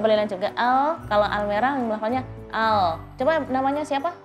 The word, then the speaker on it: Almeera: Jadi nggak Almera tapi Almera. Nanti Lidahnya di belakang dan lidahnya dilebarkan.